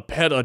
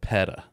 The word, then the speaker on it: PETA: gas station I've never heard anybody call it paa paa is a paa is a Peta it's Peta paa makes it sound like oh